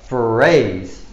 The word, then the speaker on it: phrase: op phrase phrase now the pH here it sounds like foot sound foot foot phrase so I'll write any bracket to you this is what it sounds like phrase phrase so you pronounce it phrase phrase all right number